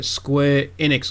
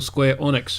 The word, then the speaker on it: Square Enix: Square Enix or Square Onyx, however you want to pronounce it. Some people pronounce it Square Enix, some people pronounce it Square Onyx. I don't know why.